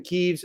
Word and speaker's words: Kyiv: The Trump administration is pushing ahead with the sale of thousands of new American-made missiles built to deepen Kyiv's, or Kiev, again, depending on how you pronounce it, inventory of long-range munitions.